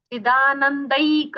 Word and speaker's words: चिदानंदैक: इसलिए छंदी के साथ ही हमें उच्चारण ध्यान में रखना है कि चिदानंद एक रूपाय ऐसा वहां संधि विच्छेद है। ये हमें ध्यान में रखते हुए उच्चारण करना है। चिदानंदैक रूपाय।